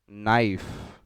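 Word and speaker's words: knife: नाइफ, के silent हो जाता है इसमें, NIFE, नाइफ बोलते हैं, लेकिन के साइलेंट हो जाता है, इसका मतलब आप जानते हैं चाकू।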